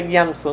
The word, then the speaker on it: Gyatso: ¿Ustedes saben quién es Tenzin Gyamso? Se escribe Gyatso. Sí, pero se pronuncia Gyamso, ¿no?